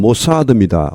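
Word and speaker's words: Mossad: 여기 발음은 모사드입니다. 우리 말하고 똑같죠. 영어하는 거 우리말이 똑같은 것이 많지가 않을 텐데 그 중 하나입니다. 모사드입니다.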